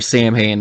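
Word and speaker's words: Samhain: anyways back to the the sawin or saman as Lumis pronounce it so he explains that it's the lord of the Dead the end of summer the Festival of Sam Hayne October 31st so we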